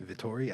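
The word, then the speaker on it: Vettori: do you say the last name again vittori vittori i said it right hey i'm good i'm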